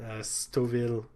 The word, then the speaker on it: Stouffville: You know, when you put two F's in the word, the general expectation is you pronounce them, but that's not a point anyway.